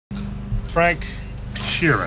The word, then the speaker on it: Frank Sheeran: Frank Sheeran.